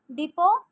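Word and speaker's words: depot: డిపో, night, shelter, mysterious. T silent ఎక్కడ ఉందంటే డిపో.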